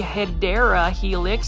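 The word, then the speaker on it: Hedera helix: This one is the Hideera Helix, the correct way to say it.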